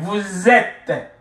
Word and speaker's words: vous êtes: Vous êtes. Vous êtes, êtes, vous êtes, ok, vous êtes, ils, elles, sont, ok, je suis, tu es,